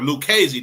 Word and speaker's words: Lucchese: Tommy Gagliano, and Tommy Lucchese or Lucchese. I can't pronounce his name. Or Lucchese, that's how you pronounce it.